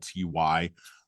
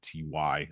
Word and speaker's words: Welty: And I'm going to keep probably mispronouncing her name. It's Welty. But I tend to reverse the L and the T and the Y, so forgive me, folks. But it is Welty.